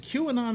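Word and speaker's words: QAnon: believes in in queue or not is it q anon is that how it's pronounced yeah which that's the other one well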